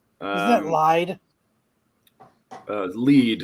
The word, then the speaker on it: Lied: is that lied uh lead it's pronounced lead it's based on a German word elf and Lead which